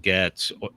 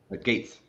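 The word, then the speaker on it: Gaetz: and maybe it's matt getz is that how it's pronounced though gates gates sorry um you know i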